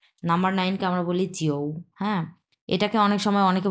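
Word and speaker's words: jiu: এটাকে আমরা বলবো জিও। জিও মানে হচ্ছে নাম্বার 9, জিও।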